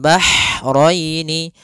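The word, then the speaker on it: بَحْرَيْنِ: Kemudian bahraini, ha, ini hanya ha kecil, hati-hati jangan terbaca dengan ha besar, jangan marajal bahraini, jangan, karena dia huruf ha kecil.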